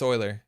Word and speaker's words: Euler: afford it euler euler i was pronouncing euler it's euler it's euler from my understanding oh above the law